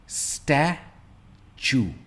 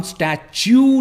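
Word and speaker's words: statue: सबसे पहला है स्टैचू, स्टैचू। हम स्टैच्यू नहीं कहते, इट्स स्टैचू।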